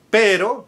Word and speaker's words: pero: pero the preposition but pero pero and perero which is dog. So you need to be careful otherwise you may be saying the